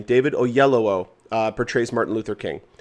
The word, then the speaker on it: Oyelowo: and uh david oley how do you pronounce his last name david oh yellow i believe that's how you actually pronounce his last name david oyelowo uh portrays martin luther